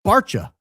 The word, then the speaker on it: Barca: It's Barca, pronounced Barcha.